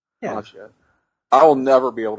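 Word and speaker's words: Maggia: Oh yeah, It's the magia. Magia? Yeah. Magia? Magia. Like Like the mafia, Like but mafia. with the double G. Yeah. Like John DiMaggio. It's so hard to say. Yeah. Magia.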